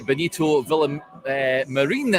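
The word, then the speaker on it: Benito Villamarín: welcome to the real Bettis Stadium or the Bonito vill H Marine Stadium as it's correctly pronounced here in Seville Rangers taking on real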